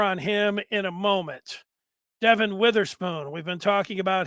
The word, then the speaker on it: Devin: Witherspoon is the pick I know it looks like Devon but he pronounces it Devin I'll get to him